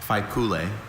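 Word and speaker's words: faipule: Are there any alternate pronunciations? I have just the one. Fool.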